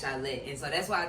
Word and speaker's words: Shyy: And my real name is Shyy. Shyly. Shyy. Shyl. How you? Shillett. Okay, Shyly. Shyly. Yeah, so yeah, it's Shyy.